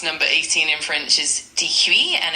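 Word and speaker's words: dix-huit: 18 is due and it's spelled d iix h ui t.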